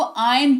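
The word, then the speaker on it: iron: देखो हिंदी में आयरन लिखते हैं। आयरन बोलते भी हैं। बट अंग्रेजी में जो है ना आर का उच्चारण नहीं किया जाता। इसको आयन पढ़ा जाता है।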